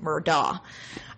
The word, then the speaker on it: Murdaugh: scheme of it i'm going to go with murdah because that's how it google says it's pronounced and that's how it looks to me